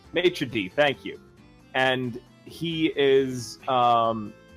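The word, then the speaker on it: maître d': Maitre d', thank you.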